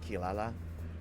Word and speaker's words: Kirara: Some people call her Kiraabra because it's spelled Kirara, but it's pronounced Kilala from uh Inuasha.